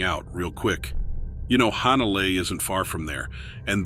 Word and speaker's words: Hanalei: You know, Hanalei isn't far from there, and there's that old song, Puff the Magic Dragon. Even though they pronounce it Hanalei in the song, it was really about Hanalei, Hawaii, which makes me think